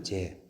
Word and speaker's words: 재: 위를 가리키고 그다음에 목자진열이라고 자라고 발음하라고 되어 있는데 요 자가 아니고 자는 흘길자, 동사로 쓰이면 자입니다. 흘길자, 명사로 쓰이면 눈초리 재입니다. 재. 눈초리 재거든요.